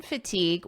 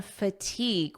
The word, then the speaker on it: fatigue: First, I'll read the headline, Combat Brain Fatigue with these top expert tips. We're talking about brain fatigue, when your brain feels like this. Notice the pronunciation here, fatigue. Fatigue. Repeat after me, fatigue.